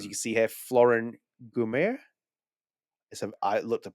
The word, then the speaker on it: Guillaume: Gume, yeah, it's Gume, Yeah. yeah. It's like, yeah, I looked the pronunciation that is.